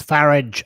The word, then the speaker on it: Farage: And it's Farage as in Garage.